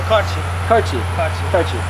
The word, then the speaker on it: Karoly: How do you say it? Karchi. Karchi's Hungarian, and he does the BMX as well as the roller skating act here at the Circus.